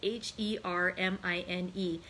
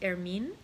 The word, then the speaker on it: Hermine: name is spelled h-e-r-m-i-n-e and so i think it was hermine is how it would be but i was thinking hermione would you know from harry potter and so that's what i was pronouncing with the with the e pronounced but since there is no accent it probably actually is air mean um but hermene is